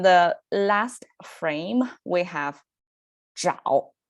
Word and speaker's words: 找: sound pronunciation over there, which signifies you have to kind of curl up your tongue to make it 找 versus the other one is 早.